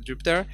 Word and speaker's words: Jupyter: Colonel example is called Jupiter the pronunciations stuck in my head sorry but from what I understand occurs the right way to call it pronounced is Jupiter if the main message